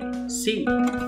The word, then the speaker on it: si: C. Sa sofa syllables is T.